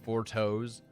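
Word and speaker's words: Fourchenault: It's spelled Four Temps, but said Four Toes.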